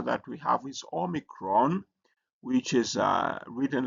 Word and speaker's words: omicron: And then uh the next letter that we have is omicron which is uh written like O and it has a O sound like O in not.